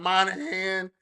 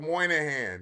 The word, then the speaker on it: Moynihan: It's not Moynihan, Mulligan, or whatever y'all call it. It's called Moynihan.